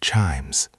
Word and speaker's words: chimes: I think the hardest part for me is the word chimes. Chimes. It's that ch sound at the beginning and the long i sound.